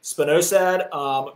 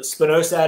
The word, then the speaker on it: spinosad: Janice said, can you spell spinosad?